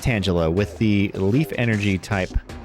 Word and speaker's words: Tangela: And yes, it is pronounced Tangela with the Leaf Energy type Reverse Holo pattern.